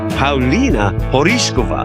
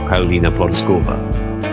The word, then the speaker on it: Paulina Porizkova: She is the Czech Wonder Girl, Pina Porishova. That's how you say it in Czech or you could say it in American by saying Pina Porskova.